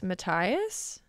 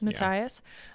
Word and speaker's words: Matthias: And this is when they introduce Matthias. Is that how you say it? Yes. Matthias. On the train.